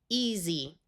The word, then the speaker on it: easy: S in this word will use its second sound of z, and Y will have a long E sound. Easy.